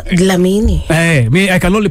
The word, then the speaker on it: Dlamini: No, it's pronouncing like this:, Dlamini.